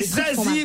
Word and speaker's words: Zazie: Zazie, oui, je sais, pour moi, c'est compliqué. C'est un peu comme Slip Suisse ou Saucisson Sec. C'est Zazie, bonne réponse de Sophie Favier.